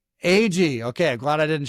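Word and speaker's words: Agee: And I wasn't sure how to pronounce his last name. Adam, is it? AG. AG.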